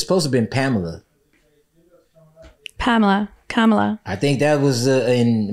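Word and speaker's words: Kamala: mean so your yours Camila hers is is kamla right is yeah see you say tomato she say tomato yeah so it's supposed to been Pamela Pamela kamla I think that was in mom yeah she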